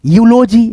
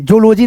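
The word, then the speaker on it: eulogy: ऐसे करके जैसे ई यू एल ओ जी वाई यूजी। ठीक है? यूलॉजी जूलॉजी नहीं पढ़ते हैं।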